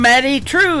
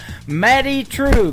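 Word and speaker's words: Maddye Trew: That is a brand new single from Maddie True. It is Maddye on her first name, and True is spelled Trew. Maddie True.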